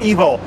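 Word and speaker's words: Evol: second feature movie called Evil. E-V-O-L. Evil? Yeah, okay. It's pronounced evil, like E-V-I-L, but it's love spelled backwards.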